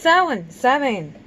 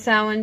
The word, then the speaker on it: Samhain: Alright, so, it is Samhain. Yeah, it's pronounced a couple of different ways depending on where you hail from and what language you speak. But we're gonna go with Samhain because it's the easiest